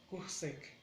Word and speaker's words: kuhsek: Eh, es más importante la acentuación en la primera sílaba. Kuh, Kuhsek, Kuhsek. Kuh, como Q, Kuhsek, Kuhsek, Kuhsek.